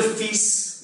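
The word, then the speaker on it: fils: सो ल फीस यहां पर एक्सेप्शन देखेंगे, एस को प्रोनाउंस कर रहे हैं पर हम एल को साइलेंट रख रहे हैं।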